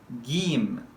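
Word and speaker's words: ج: alif letter number five gim gim try to pronounce this vowel as long vowel game this one is different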